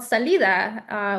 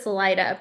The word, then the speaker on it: Salida: And then they settled in this small town, which oddly enough, if you pronounce it correctly, it's called Salida, which means exit. But in English, for whatever reason, it's pronounced as Salida, but it's a very, very small little town off of the 99.